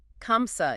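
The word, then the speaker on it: خمسة: It starts with that ka sound, right? Kamsa. Is that another special sound? It is. Think of the tree sound in the Scottish lock or the German bach.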